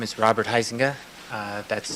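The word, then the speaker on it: Huizenga: Uh, my name is Robert Heisinga. Uh, that's spelled H UI Z E N G A.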